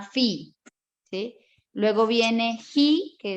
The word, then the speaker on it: Phi: Luego viene Pi, que se transcribe como PHI y se llama Fi, ¿sí?